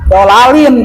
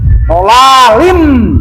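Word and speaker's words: ضلال: Jikalau ada tanwin fathah, tanwin kasrah, tanwin dhommah, nun mati ke depan bertemu dengan huruf yang enam tadi, maka membacanya jangan dibaca dolalin kalau di sini. Dolalim, tuh.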